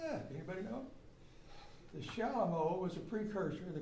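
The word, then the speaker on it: chalumeau: Not spelled like it sounds, C-H-A-L-U, M-E-A-U. Why is it called that? Anybody know? The Shalom was a precursor to the clarinet, an instrument.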